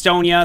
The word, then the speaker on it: Sonya: the melee Warrior super Sonja and it is pronounced Sonia somebody asked the other day why I call her Sonja and it's uh it's just a name a